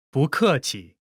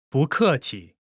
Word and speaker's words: 不: When 不 is followed by a fourth tone, its tone changes from the fourth tone to the second tone.